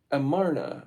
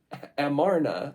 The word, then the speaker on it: Amarna: Though they regarded their offices as hereditary and sometimes styled themselves kings, in the Amarna, I'm saying it wrong, Amarna letters, we find these men